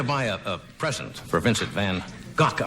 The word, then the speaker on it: van Gogh: a present for Vincent van Gogh, I guess is the correct pronunciation if you want to use the Dutch pronunciation, Vincent van Gogh.